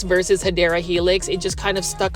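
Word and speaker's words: Hedera helix: plants to grow indoors I like to say hedra Helix versus hadera Helix it just kind of stuck along this video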